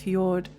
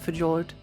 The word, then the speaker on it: fjord: It's pronounced fjord. Just naughty things. Oh, I know. I know. But but when the when the game gave it to me, they said fjord. So I'm calling it fajord.